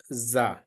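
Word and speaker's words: ظاء: it is uh light this one is zah it is zaah zah also can be written in English that is a z a Za uh in uh you can say Piza Piza this is z is exactly matching with the zah the articulation point of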